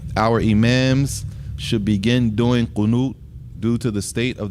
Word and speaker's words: Qunut: Qunut. Yeah. It's usually spelled like Q-U-N-O-O-T or Q-U-N-U-T. Qunut.